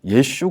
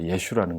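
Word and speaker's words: ישו: 이랬었는데 이스라엘 가고 나서 이제 복음을 전하는데 우리는 예수님하고 전하는데 이들은 그 예수라는 걸 예슈 그래요. 그래서 발음이 좀 다르지만 예수님이라고 하는구나.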